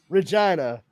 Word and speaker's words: Regina: Regina, the town that rhymes with fun.